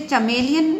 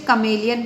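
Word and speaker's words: chameleon: कई लोग इसे चमेलियन प्रोनाउंस करते हैं और कई लोग इसे कमेलियन प्रोनाउंस करते हैं। Again the same thing, American English और ब्रिटिश इंग्लिश।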